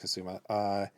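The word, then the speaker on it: Kusama: So that brings us to The Invitation by Karen Kasuma, or I believe it's pronounced Kasuma, who had a really good last decade with Jennifer's Body as one of the better horror movies of the previous decade.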